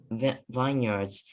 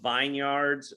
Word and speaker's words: vineyards: uh i don't know i think you can either do uh vine yards uh i pronounce it without the yi so i'll say vineyards um i think it's either or uh i just have